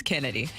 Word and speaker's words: Chennedy: I know but I from everything that they're saying it's Kennedy but it does it is spelled chinned to be fair okay I'll just go